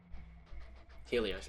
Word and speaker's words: Helios: or however you say it how is it Helios okay I said it right it's now deerga